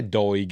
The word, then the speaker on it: Doig: So I'll say DOIG. It's spelled DOIG, D-O-I-G.